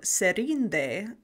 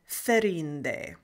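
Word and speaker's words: Þerindë: So instead of Míriel Serinde, he pronounces her name Míriel Ferinde.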